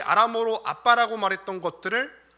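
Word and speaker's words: אבא: 아빠. 아마 여러분들도 어떤 말씀 시간이나 들어보셨을 것 같은데, 아람어의 아빠는 우리말의 아빠랑 거의 발음도 똑같고 의미도 비슷합니다.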